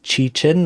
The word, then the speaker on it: Qichin: I guess my name is Chi-Chin, that's how you pronounce it.